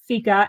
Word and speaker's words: fika: can always go to my website which is FICA f i k a some people say FICA but it's pronounced FICA which is a Swedish I apologize that's okay